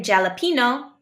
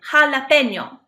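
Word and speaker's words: jalapeño: sound we don't say jalapeno we say jalapeno jalapeno it's not e remember the H is silent kilog Lola and then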